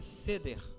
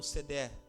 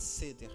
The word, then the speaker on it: Seder: Ele é o cálice da Páscoa judaica, chamado de Seder ou Sedé, mas eu acho que é Seder a pronúncia correta.